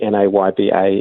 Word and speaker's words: NAYBA: to do and and the reason that it's spelled phonetically nayba is so that it works in languages other than English well I know you